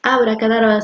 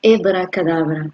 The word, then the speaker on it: abracadabra: O sea, mírenla, la palabra abracadabra, y la vamos a separar en la palabra hebra, porque la palabra real no es abracadabra, sino hebracadabra. ¿Ok? Esa es la pronunciación correcta.